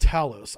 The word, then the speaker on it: Thales: All right, here's the therm uh thales rather or I always say this name wrong. Talos is pronounced Talos.